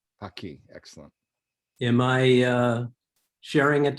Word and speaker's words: Paqui: So the pronunciation of the brand name. Paqui. Paqui.